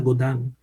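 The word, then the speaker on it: Godin: el segundo André godán se escribe godín pero se pronuncia godán con su idea de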